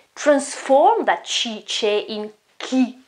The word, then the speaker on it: chi: Ki means who, okay? Ki, you notice here it's a chi sound and a e, but in the middle I've got an h, so I won't pronounce this chi, which exists, but it's another word without h. It is ki.